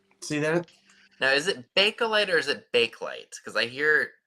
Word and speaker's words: Bakelite: you accent it or not so it's really Bakelite that's how it felt and that's that's how